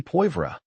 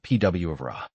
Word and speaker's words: poivre: It should be poivre, not pwvre.